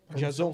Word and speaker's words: Jazon: Comigo aqui na mesa está o escritor Sacolinha e o professor Jason Silva de Souza. Pronunciei certo, professor? Jason? Certo. Certo, beleza.